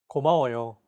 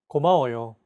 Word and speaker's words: 고마워요: the same amount of time allocated for each syllable. 고마워요. 고마워요. Each syllable is pronounced for an equal amount of time. 고마워요.